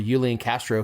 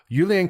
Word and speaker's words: Julian Castro: of silence for the yulian Castro campaign that's not how you say it Julian you say it different Julian Castro thank you first